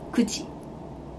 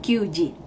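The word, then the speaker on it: 九時: Jadi sebutnya jam 9 adalah kuji. Kuji. Bukan kyuji ya.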